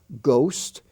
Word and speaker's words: ghost: the honor roll h-o-n-o-r honest h-o-n-e-s-t the h is silent there ghost g-h-o-s gastly g-h-a-s-t-l-y rime r-h-y-m-e that word rime